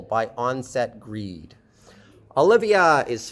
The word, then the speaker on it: Olivia: Olivia, starting with and ending with a schwa. Olivia. Olivia, I have a question for you and the other students. Is it the same vowel in the second and third syllables? Olivia. Is it the same vowel? It's not the same vowel. The vowel here is Livia. Olivia. It's the vowel in sit.